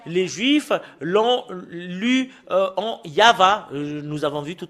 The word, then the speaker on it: YAHVAH: Et le fait de le lire selon la Sainte Écriture hébreu, c'est Yava qu'on le prononce. Et vous ne pouvez pas faire une discussion et le contredire que c'est Yava.